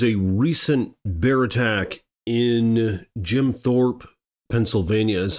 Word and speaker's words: Jim Thorpe: so there was a recent bear attack in Jim Thorp Pennsylvania is how you say and what happened